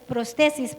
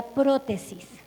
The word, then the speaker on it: prótesis: en inglés pues es prótesis pero lo voy a pronunciar como sería en español sería prótesis prótesis es algo que